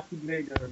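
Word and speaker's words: χ-blade: Enfin, qui se prononce Keyblade, désolé.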